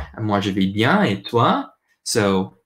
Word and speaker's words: toi: Also, the OI makes a wa sound. Like ever, if you think of the word toi, it's like when in